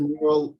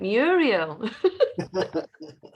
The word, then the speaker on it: Mural: So there's the mural link for today's mural board. Oh, it's Mural. I've been calling it Muriel.